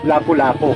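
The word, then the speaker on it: Lapulapu: Committee o NQC na ang historically correct o tamang baybay o tamang pagbigkas sa pangalan ng bayani ay Lapu-Lapu, yung walang das LAPU, ganon. Isang buong salita at walang gitling o hyphen, ganon ang napagdesisyonan nila at napatunayan nila.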